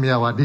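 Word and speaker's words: Myawaddy: sendiri itu ada di Kalau tulisannya miiawadi gitu bacanya miawadi Ya ini perbatasan antara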